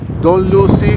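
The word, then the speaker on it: Dunluce: Ah angat naming destination to Doll Lu castle. Tama ba pronunciation to? Don Lucy. Don Lucy Castle Don Lu Castle.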